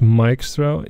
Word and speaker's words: Mikeastro: By the way, it's pronounced Mikeastro. You all keep doing it wrong. It frustrates me extremely. I'm very angry. No, I'm fine. But it's Mikeastro. It's a pun on Maestro, you know?